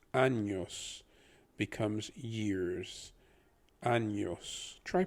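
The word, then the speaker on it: años: is pronounced really as once it has the tilde or the squiggly line above it it doesn't become an n it becomes an en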